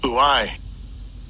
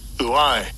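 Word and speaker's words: οὐαί: And I'll give you a pronunciation of this word. It is G3759. Strong's G3759. Uai. Uai.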